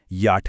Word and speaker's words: J: जे का उच्चारण ज नहीं है बल्कि याट है।